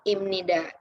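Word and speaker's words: 입니다: Ini kan seharusnya ini kan huruf B atau P, tapi karena udah bertemu dengan huruf N, jadinya dibacanya imnida, ya teman-teman.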